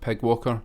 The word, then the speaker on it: PyGWalker: first saw this Library I thought you would pronounce that Pi G Walker but apparently this is actually called Pig Walker and what it is